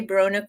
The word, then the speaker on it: Brona: by Nicole pman brona now do I say brona correctly yes yay yes like broa BR see